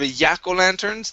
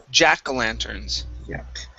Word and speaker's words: jack-o'-lanterns: good um next is the j sound instead of a yakko lanterns this is jack-o'-lanterns jack landers okay one